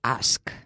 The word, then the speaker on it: ask: To ask. To ask, right, to ask. Very important, the K, right?